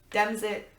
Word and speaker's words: DemExit: It's not just Democratic Party exit, it is DemExit, it is current democracy exit, so pronounce it like Brexit, and kind of almost think of it of Brexit in a very loose way, basically.